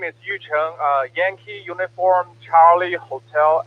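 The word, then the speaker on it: Yucheng: way to pronounce it we always say uh what was that mikey was saying you you tongue oh yeah that's pretty accurate actually yeah you challenged my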